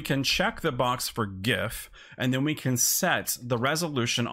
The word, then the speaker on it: gif: that's how it's pronounced gif it's not the step brother to the peanut butter it's gif gif that's how we're gonna